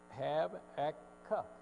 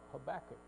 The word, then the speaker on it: Habakkuk: say this guy's name well if you go to Strong's it's have AK Cup but if you go to Harper pronunciation guide it is of Habakkuk which is the way we're gonna go with because that's the one I hear a lot up I don't know